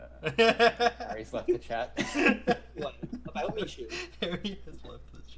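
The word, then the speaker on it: Michoud: Gosh, how do you not know how to pronounce Mishu? Oh, Yes, sir. don't you even start. What do you So- mean? I know how to pronounce Mishu just fine. You don't. Michud.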